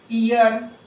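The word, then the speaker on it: hour: है इसको होर्स होर्स इसको हम साइलेंट है तो हम ऑनेस्ट ऑनेस्ट ईयर यहां भी एच साइलेंट है इसको भी ईयर बोलेंगे ईयर देखो जैसे कि आई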